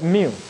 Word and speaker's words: mu: Okay, this is pronounced as mu.